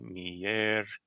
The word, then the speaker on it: miércoles: Like on the word Wednesday, for example, miércoles. That's on the 3rd syllable back. That's why there's an accent mark there.